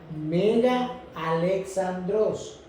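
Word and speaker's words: Μέγας Αλέξανδρος: En griego se pronuncia Mega Alexandros.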